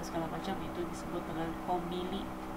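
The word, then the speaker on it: コンビニ: Terus ada Alfamart dan segala macam, itu disebut dengan kombini. Jadi yang di tengah itu huruf N tapi dibacanya M ya, kombini.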